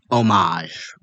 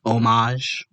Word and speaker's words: homage: I just want to be very clear like there is something about paying homage. By the way, y'all, it's homage without the H. The H is silent. Homage.